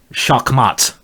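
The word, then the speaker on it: Schachmatt: guess what it is it's called shakmat that is my German pronounciation where you bloom and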